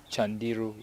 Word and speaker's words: Candiru: the Mbata, and then C is pronounced as CH, so that the name Candiru is pronounced as Chandiru, which means sorrowful.